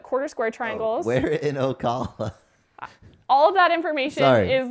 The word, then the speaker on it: Ocala: we going to Osceola where are we going okawa Oh hallo sorry no still got it wrong